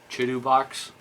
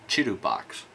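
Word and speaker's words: ChiTuBox: Chidu box. Okay, so the printing software is... No, hey, I said Chidu box. It's spelled C-H-I-T-U-B-O-X. Chidu box.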